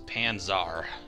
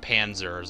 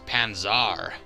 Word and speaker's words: Panzar: right so what is panzar i feel like i really have to stress the second a and not call it panzers i really want to